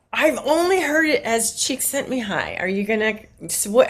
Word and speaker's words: Csikszentmihalyi: I've only heard it as Csikszentmihalyi. Are you gonna? What? How did he say it? Csikszentmihalyi.